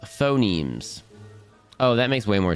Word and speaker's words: phonemes: Also, phonemes is pronounced phonemes.